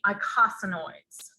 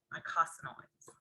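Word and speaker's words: eicosanoids: we call them the icosanoids you don't say the e the e is silent mycosinoids so they're basically unsaturated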